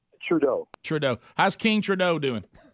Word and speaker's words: Trudeau: name is john how you say his name trudeau trudeau how's king trudeau doing he's fantastic hey